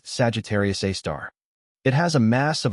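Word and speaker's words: Sagittarius A*: The super massive black hole at the center of the Milky Way is called Sagittarius Asterisk, pronounced Sagittarius A star.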